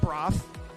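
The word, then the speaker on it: Bro F: It's B-R-O, and then there's a space, and then there's an F. Well, he likes to be called Broth. That's the preferred pronunciation.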